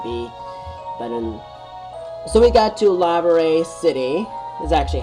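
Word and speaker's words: Laverre: So we got to Lavare City, is actually how it's pronounced.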